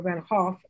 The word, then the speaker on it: Van Gogh: well, I don't think Van Gogh, or Van Hoff, as he used to say his name, ever sold a single painting of his own.